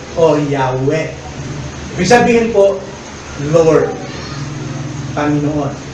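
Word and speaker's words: Yahweh: at Ginawa itong Jehova Pero ang totoo niyan ang tamang pronunciation nian ay yah yahwe Ibig sabihin po Lord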